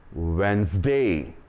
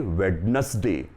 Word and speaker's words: Wednesday: The next one is Wednesday. Don't say Wednesday. It is Wednesday.